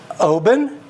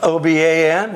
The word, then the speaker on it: Oban: the peat might be is a Scotch called Obin but it's spelled o-b-a-n it's not obeying or Oban it's pronounced Obin that's the way